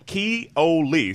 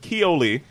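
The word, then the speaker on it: Koele: reimagined a lodge in key oi sorry my uh Hawaiian pronunciation is a little off but Koli as a hub for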